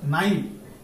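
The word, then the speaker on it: knife: এরপর আমরা দেখবো আর একটা নাই, এটা কে টা সাইলেন্ট থাকবে, উচ্চারণ হবে এন থেকে, এন আই এফ ই নাই, অর্থ তাকুবা সুরি।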